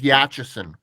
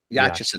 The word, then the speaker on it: Yachison: My last name is Yachison. Yachison.